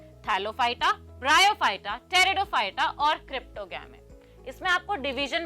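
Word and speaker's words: Pteridophyta: मैंने आपको बताया था कि टेरिडोफाइटा इसमें पीस साइलेंट होता है। It's pronounce as टेरिडोफाइटा नॉट पटेरडोफाइटा। So they have well developed root, stem and leaves.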